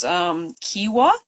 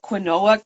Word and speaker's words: quinoa: The one that really blows my mind is Kiwa. Like it's spelled quinoa, Quinoa. Other places pronounce it like quinoa, but up here they call it kiwa.